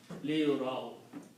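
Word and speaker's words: لِيُرَوْا: and I'll explain that, this alif is not pronounced. It is just written there. Okay? So that's the reason when we are pronouncing, we are not pronouncing the alif, we are just pronouncing liyuraw.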